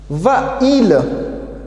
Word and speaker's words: va-t-il: dans ce cas là on doit les séparés par un thé on va mettre tes pour séparer les deux voyelles côte à côte et on va les prononcer va-t-il samantha va email et